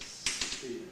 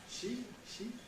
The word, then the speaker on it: ski: Everyone says ski, but in Norwegian it's she.